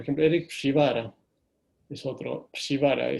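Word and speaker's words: Przywara: Shivara, se escribe, es polaco del apellido, ¿no? P-R-Z-Y-W, Shivara.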